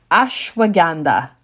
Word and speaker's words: ashwagandha: So I'm going to try to not butcher this one, but number 5 is ashwagandha. Ashwagandha. If you need to know how to spell it, here we go.